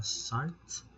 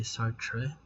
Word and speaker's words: Sartre: of existentialism Okay so sart pronounce as sart you don't say sartre so was an atheist